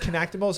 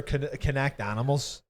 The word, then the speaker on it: Kinectimals: Is it pronounced Kinectimals or Kinect Animals? I think it's pronounced Kinectimals. Kinectimals.